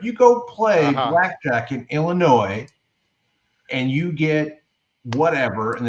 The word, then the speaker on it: Illinois: he did he just did he just pronounce the S oldie yes he did like somebody from Missoura yeah I did that on purpose but if you go play Blackjack in Illinois and you get whatever